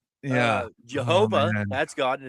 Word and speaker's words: Jehovah: Jehovah, that's God. And it's actually pronounced Yhovah.